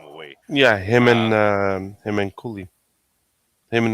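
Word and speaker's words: Cuylle: Yeah, Uh, him and Cooley, him and not Cooley. yeah, What's his name? Um, Fox. no, no, Miller, JT Miller. Oh, no. Cooley, like CU. Yeah, CUYLE. Yeah, exactly.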